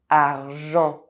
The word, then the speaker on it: argent: Parisian (masculine) européen European Otherwise, EN is pronounced : argent silver, money sentir to smell gencive gum enfant child However, it is a little different for verb endings.